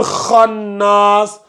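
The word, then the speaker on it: خناس: Donc, le kha là, voilà, le kha, c'est une lettre emphatique. Et vu que c'est une lettre emphatique, il faut bien la prononcer. Essayez de voir. Il faut bien la prononcer. Donc, ça donne waswasil khannas. Waswasil khannas.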